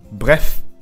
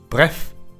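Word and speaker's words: bref: はブレフブレフブレフ発音も短く一息でブレフブレフとならないように気をつけましょうとにかく要するにと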